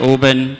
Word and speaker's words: Oban: on such boutique brands as Johnny Walker and Oban and it's it's pronounced open for 95% of the room who don't pronounce